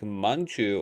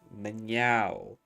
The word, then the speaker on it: Mnjau: People try to say something like Manju or something like that, and then it's Mnjau. It's MnjauTheCat.